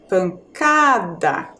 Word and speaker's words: pancada: acento ou não crianças a sílaba mais forte ali é o k tá pancada tá observem que a palavra pancada não leva acento a a penúltima sílaba é a mais forte Tá mas existe uma